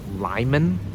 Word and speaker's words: Limon: Okay, so I'm here in one of the largest towns in eastern Colorado called Lyman. It's spelled limon or lemon, but it's called Lyman for some reason.